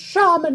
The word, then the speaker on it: Shaman: It's pronounced Shaman Metal Complex.